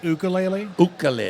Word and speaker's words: ukulele: being the gear guy the correct pronouncing is ukulele okay so it's no it's not the you right okay yeah I